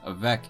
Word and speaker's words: avec: As we can see, French has a habit of not pronouncing the end consonant of a word unless it ends in a specific consonant, such as with avec here, which means with.